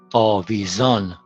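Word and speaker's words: آویزان: Was, it with the beginning of the second syllable. Avaz means song. Okay. Now, A, V, zon. Avizon, something which is hanging on a plate, dangling.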